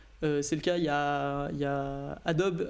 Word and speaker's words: Adobe: toute la compatibilité c'est le cas il ya adobe hadopi oui prononcé halle anglaise qui en train de travailler